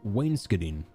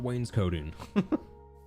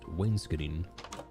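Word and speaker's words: wainscoting: this kind of uh I learned that it's actually pronounced Waynekitting, not Wayne's coating. The very American way to say this is Wayne's co, but apparently it's pronounced Waynekitting the marina.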